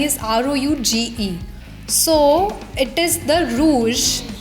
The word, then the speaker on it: Roosh: So we'll say Rouge. Yes, rouge. People, you were saying it wrong all your life. It's Rouge.